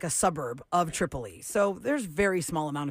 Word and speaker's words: Tripoli: Tripolis, right? The name of my parents' town is Tripoli. That's how you pronounce that.